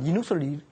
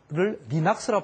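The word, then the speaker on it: Linux: 같은 영어인데도 불구하고 렌을 란이라고 그러고 그다음 리눅스를 리낙스라 발음을 합니다. 그래서 제가 그걸 알아봤더니 일본식 발음이더라고요.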